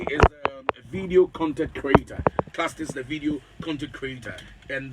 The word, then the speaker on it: Klastes: Yes, Is it Klastes? Yes. Great. Klastes. Okay, is a video content creator. Klastes, the video content creator, and the CEO of what?